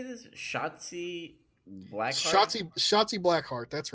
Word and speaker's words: Shotzi Blackheart: Shotzi Blackheart, that's right.